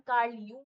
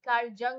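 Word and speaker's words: Jung: बताया था इनका नाम कार्ल यंग है कार्ल जंग ंग मत बोलनांग है जे साइलेंट होता है कार्ल यंग है इनका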